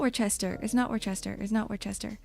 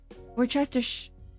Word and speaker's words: Worcestershire: It's not Worcester. Worcestershire.